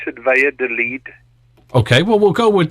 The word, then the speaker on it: Valladolid: spanish is limited as well but yeah you pronounce it via delete okay well we'll go with that right so